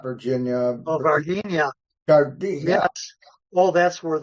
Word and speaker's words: Varginha: Well, I pronounce it Varginha. Virginia. Varginha or something like I that. think so. Yeah, that's I try to remember it as Virginia. Yeah. It's not Virginia.